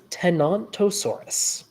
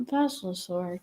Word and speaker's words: Tenontosaurus: early big ones is tenontosaurus not vosa tenontosaurus yes not a thosa we we have a we have a pronunciation war going on here uh no it's just there's a there's a dinosaur that sounds vaguely similar that sometimes gets mixed up with this one um but at any